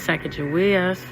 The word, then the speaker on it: Sacagawea: And Hadatasha Sacagawea, pronounced with a hard G, translates to bird woman.